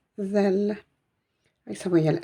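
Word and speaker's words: ذال: Elle se prononce zel, zel.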